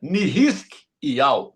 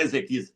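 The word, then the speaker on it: חזקיהו: selo do rei Ezequias, que ali se pronuncia Nihiskiau. Nihiskiau era o nome dele, não é Ezequias, é Nihiskiau.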